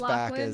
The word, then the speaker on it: Lachlan: Is that how you pronounce his name? Lachlan? Yeah, he's Lachlan, back as he's the tech CEO who plummets to his death in the elevator, in the terminal descent.